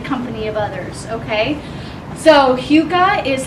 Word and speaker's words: hygge: It's pronounced hygge.